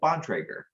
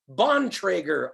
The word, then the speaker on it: Bontrager: how do you say your last name uh bontrager bontrager awesome and nick how are you doing today